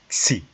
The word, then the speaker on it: xi: The pronunciation again is xi, xi, xi, xi.